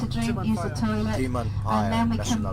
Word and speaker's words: Timanfaya: Timalaya? Timanfaya. Timanfaya. Timanfaya. It's very difficult to pronounce.